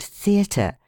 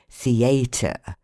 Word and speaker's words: theatre: Thus, in the word theatre, the stress of the voice should be on the letter E and first syllable the, and in contrary on the first syllable con. How shocking it is to hear people say contrary, theatre.